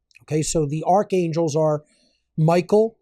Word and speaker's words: Michael: so the archangels are Michael or if we're pronouncing it the ancient way M Mikael right then Raphael Gabriel